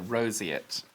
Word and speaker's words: Roseate: that Roseate Roseate right we've got the correct pronunciation there Roseate gosh look at that oh this is such